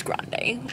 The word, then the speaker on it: Grande: it's good very holiday I said medium I know that's not how you say it it's Grande like I really like it